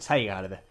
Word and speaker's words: Zygarde: Pronunciémoslo bien, Zygarde.